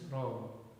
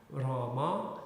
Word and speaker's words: Ram: Like in Bengali, you don't pronounce this ends, so it's Ram. In Delhi? Bengali, in Bangla. Oh, in Bengal, yeah. So, but in Hindi also it's rudimentary. You don't say Rama, you say Ram.